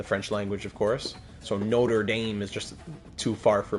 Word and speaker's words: Notre Dame: Not being snarky, but we pronounce it Notre Dame. Yeah, I know. I know. Exactly. Yeah. For for myself, it would be Notraadam. So already saying notra instead of not is already pushing it